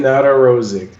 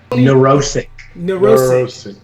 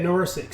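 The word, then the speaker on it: Nedoroscik: Steven Narosic. Did I say it right? Neurosic. Yeah, Neurosic.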